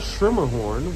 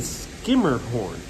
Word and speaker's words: Schermerhorn: don't know but for some reason it's not schermerhorn which would be uh like a german pronunciation um it's not skimmer a skirt scrumer